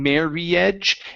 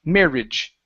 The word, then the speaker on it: marriage: marriage okay so uh the i in the a here in the middle we don't pronounce them separately saying marage it's only marage marriage marriage good good nice job